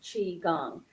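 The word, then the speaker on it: qigong: and chi gong is spelled q i but pronounce c-h-e-e chi gong and um and we just do a few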